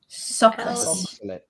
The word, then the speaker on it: Soxhlet: So it's spelt SOXHLET. Can you please pronounce that for me, Paul? And then funnier if the others try and pronounce it first. SOXHLET. It sounds like some Egyptian queen to me. SOXHLET.